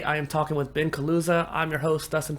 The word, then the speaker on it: Kaluza: creator Spotlight today I am talking with Ben Kusa I'm your host Dustin P innovator thank you